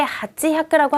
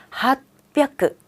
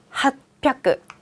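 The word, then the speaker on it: はっぴゃく: 그런데 핫지 혀끄라고 하지 않고요. 핫하고 변했어요. 핫하고 힘이 들어간 순간 뒤에는 세게 읽게 돼 있어요. 그래서 핫 혀끄가 아니라 핫뼈끄.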